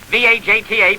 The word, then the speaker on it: Vajta: His name, Thurek Vajta, V-A-J-T-A, pronounced Vajta.